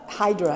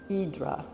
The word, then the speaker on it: Hydra: down below is Hydra the Hydra is how we say it but it's pronounced in Greek idra but this was just